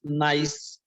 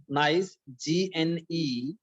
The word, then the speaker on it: gneiss: Next metamorphic rock is gneiss. Student, look at the spelling of gneiss, Gneis. Gneiss, G is silent here.